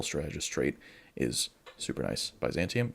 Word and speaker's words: Byzantium: Byzantium. Yeah, that's how it's said in English. Byzantium.